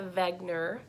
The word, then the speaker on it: Wegener: with him with a Vagner with a V sound and he was a